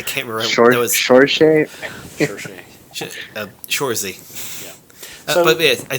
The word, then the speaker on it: Saoirse: Cersei. I said it right earlier once, and I can't remember. That was Saoirse. Shorzy.